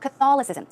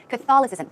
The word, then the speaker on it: Catholicism: pronunciation Christianity and also Catholic right you would pronounce it Catholicism Catholicism the stress goes right there Catholicism it's difficult